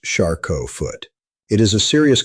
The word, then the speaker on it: Charcot: One of the most significant conditions is called Charcot foot, pronounced Charcot foot.